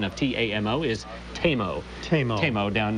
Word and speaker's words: Tamo: Also, just checking in, we've gotten a tweet here that says the correct pronunciation of T-A-M-O is TAMO.